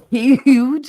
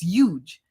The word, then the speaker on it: huge: Huge. I'm not British. I don't say the H. It's huge, not huge.